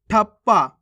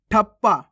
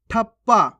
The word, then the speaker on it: ठप्पा: नहीं पढ़ना आपको शास्त्र ठप्पा कैसे पढ़ेंगे ठप्पा ठप नहीं पढ़ना ठप्पा हफ्ता कैसे पढ़ेंगे हफ्ता